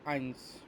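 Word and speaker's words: eins: ইংলিশে যেটাকে ওয়ান বলে এটাকে হচ্ছে আমরা বাংলায় বলি হচ্ছে এক, আর জার্মানে বলবো হচ্ছে আইনস।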